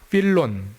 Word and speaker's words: 필론: 필론 헬라오르는 필론이라고 하고 예 영 미국 사람들은 파일로라고 읽기도 합니다.이 필로의 분류법은 개신교 대부분의 교파들과 동방정교회가 사용하고 있습니다.